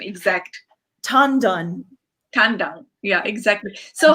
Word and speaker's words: Tan Dun: What is the pronunciation exact? Tan Dun.